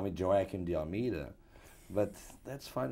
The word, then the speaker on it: Joaquim: Well, I am Portuguese, and in Portugal we say Joaquim, which is not a very easy way to say to pronounce for Americans, but you know, I'm used to all kind of pronunciations. The correct one is Joaquim, but I'm called, you know, the Spanish call me Joaquim, the French call me Joaquim, the Italian is Joaquino. So any pronunciation goes.